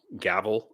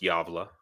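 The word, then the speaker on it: Gävle: some people say probably gavl or something but it's pronounced yava because the G is y in Swedish correct me if I'm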